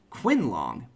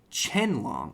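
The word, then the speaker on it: Qinglong: of those two so I want to pronounce it like Quinn long but no it's Chen long it sorry that sidebar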